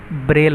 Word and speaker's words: ब्रेल: ठीक है, ये यहाँ पे ब्रेल होगा। ठीक है, हालांकि लिखा इसकी स्पेलिंग अलग है, लेकिन ये पढ़ा ब्रेल जाएगा। ठीक है, ब्रेल है, गैरीमेंडर, एम्पियर, फ़ारेनहाइट, तापक्रम जिसे कहते हैं आप।